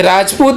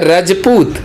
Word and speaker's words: रजपूत: से संबंधित नहीं है, ये इसका नाम है रजपूत। रज मतलब धरा, पूत मतलब पुत्र, हम लोग धरती पुत्र हैं। ये तो अंग्रेजों ने कह दिया, अंग्रेज इसकी स्पेलिंग होती थी RAJPUT, अब उनको बोले नहीं आता था, उन्होंने कह दिया राजपूत।